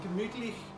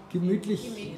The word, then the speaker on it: gemütlich: Gemütlich. Gemütlich in German.